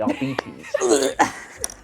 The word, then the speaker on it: Arbites: Yeah, so this she'll is be like an actual- yeah, I think RBTs, Arbites, however people pronounce it. that what they're Arbites. Arbites. In the novels, they say Arbites.